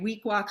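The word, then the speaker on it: Weequahic: make sure i try to say it right week walk high school was the big jewish high school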